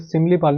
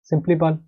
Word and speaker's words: सिमलीपाल: अगला बात कर लेते हैं जो हमारा है ओडिशा नेशनल पार्क, सिंपलीपाल, ठीक है, सिंपलीपाल होता है यहाँ पर, सिमलीपाल नहीं, सिंपली, सिंपलीपाल, ये कहाँ पर पड़ता है आपका नेशनल पार्क, ओडिशा में, सुपर इंपॉर्टेंट, ठीक है, सिंपलीपाल।